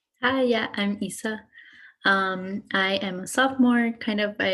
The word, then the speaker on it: Isa: I'm sorry if I'm pronouncing your name wrong. Hi, yeah, I'm Isa.